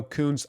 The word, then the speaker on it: Kuntz: against this man named Leo koun I'm not saying it the other way it's spelled KU n TZ that can be interpreted in another way but we're keeping it PG here but against Leo